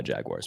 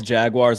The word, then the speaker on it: Jaguars: Anytime that somebody says Jaguars like it's spelled J A G W I R E S.